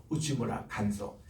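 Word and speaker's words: 内村鑑三: 또 그거를 이어서 일본에서 우스무라 간소라는 분, 이분은 내촌 감산이라는 분인데 일본 발음으로 우치무라 간소.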